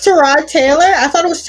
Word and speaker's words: Tyrod Taylor: like how um the the football player we all call him Tyrod Taylor it's trod you know it's it's trod Taylor it's trod Taylor I thought it